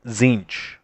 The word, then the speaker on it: Tzeentch: only win less Panda I believe it's pronounced zinc not Larry I'm I'm not sure